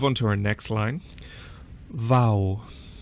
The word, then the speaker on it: V: So in my head I always say Vau, V, and then I remember that Vau is V and V is W.